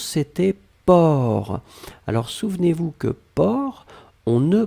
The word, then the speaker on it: porc: la dernière chose c'était port alors souvenez-vous que port on ne prononce pas le ces finales d'accord mais on